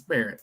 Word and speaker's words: Barrett: uh he just bared it's not Garrett it's Barrett all right I said